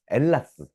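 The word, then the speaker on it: Ἑλλάς: 어, 엘라스. H가 묵음이라 엘라스인이라고 부르죠.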